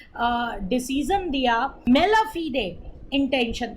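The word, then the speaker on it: mala fide: इसका right pronunciation जो होता है वो मेला फीडे होता है, राइट।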